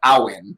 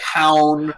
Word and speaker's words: Hauyn: Her name is actually pronounced Aowen. Okay. Even though everyone says like Hound.